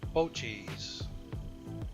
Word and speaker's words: Boetje's: weapon here it is Bogey's stone ground mustard and that's pronounced bow cheese it's made right here